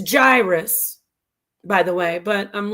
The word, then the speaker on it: gyrus: So let's listen to how the word's pronounced. Gyrus. Gyrus.